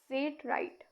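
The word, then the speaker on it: Seth Wright: ये है सेठ राइट। इसको प्रोनाउंस करेंगे हम। सेट राइट सेट राइट 17 92 में ठीक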